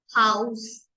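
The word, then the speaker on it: Haus: करेंगे गे गे ग्रु ग्रुं एच को हम प्रोनाउंस करेंगे हा हा हाउस हाउस मीस हाउस नेक्स्ट आई को हम प्रोनाउंस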